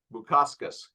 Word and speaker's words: Bukauskas: Bukauskas.